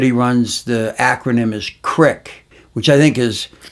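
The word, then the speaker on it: CREC: and his uh the group that he runs, the acronym is Crick, which I think is C R I K. No, it's C R E C, but Crick. Okay. Okay. Crick.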